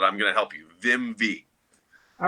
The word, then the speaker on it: Vimvi: V-I-M-V-I. A lot of people can't pronounce it, but I'm going to help you. Vimvi.